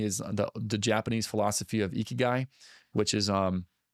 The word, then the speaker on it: ikigai: And with the last component would be like something I got introduced to recently is the Japanese philosophy of ikigai, which is it's spelled Ikigai, ikigai.